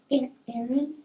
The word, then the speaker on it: Aaron: Aa Ron. And nobody's answering. He says, "Come on, don't play with me." Aa Ron, identify yourself. The guy says, "You mean Aaron.